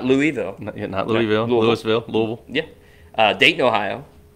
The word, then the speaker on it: Louisville: Louisville, Kentucky. Great pronunciation there, Louisville. Louisville. Not Louisville.